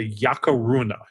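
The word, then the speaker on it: Yacruna: a legend of the yakar Runa it's called yakar Runa it's spelled y a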